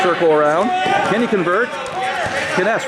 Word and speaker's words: Kness: Noah Angst is wrestling Loyola Blakefield's Ryan Ness. Again, we are in... Oh, my son is correct. It is Kness. K-N-E-S. That's what it's pronounced. Kness.